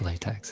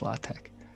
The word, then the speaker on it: LaTeX: in the light literally in latex it's not pronounced latex it's pronounced latex so it's all these different languages and this